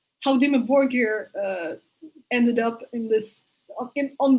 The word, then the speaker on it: Dimmu Borgir: Yes, Dimmu Borgir. That's how they pronounce it.